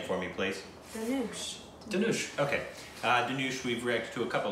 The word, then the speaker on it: Dhanush: Dhanush.